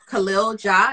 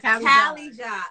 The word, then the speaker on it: Cali Ja: Because I believe the song was produced by Khalil Ja, if I said that correct? Kelly Ja. Okay. Yeah. And like California and Jay. Oh, Cali Ja.